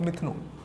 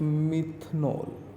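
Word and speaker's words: methanol: Preparation of मिथनॉल या मिथानॉल, जो भी आपको इजी प्रोनाउंसिएशन लगे आप कह सकते हैं।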